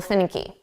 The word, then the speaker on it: finicky: Now, we're going to put the syllable stress on the first sound.